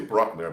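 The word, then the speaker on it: Brückner: suspect his name is christian brickner some say brockner but bruce i pronounced in german i speak german too and they found a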